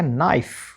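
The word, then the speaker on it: knife: के एन आई एफ ई क्या बन गया नाइफ के एन ओ नॉट एल कब कब साइलेंट रहता है?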